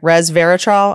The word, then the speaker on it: Resveratrol: Resveratrol. I have it. You might be the first person who ever pronounced that correctly.